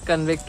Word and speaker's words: convict: नाउ the next word जो ज्यादातर लोग गलत बोलते हैं वो है कन्विक्ट होता है या कॉन्विक्ट होता है। तो एक्चुअली दोनों प्रोनाउंसिएशन ठीक है, पर दोनों अलग अलग सिचुएशंस में यूज की जाती हैं।